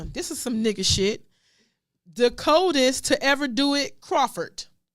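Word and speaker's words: De'Coldest: His name is spelled D-E apostrophe capital C-O-L-D-E-S-T. The coldest Crawford.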